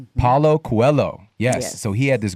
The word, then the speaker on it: Paulo Coelho: Paulo Coelho. Paulo Coelho.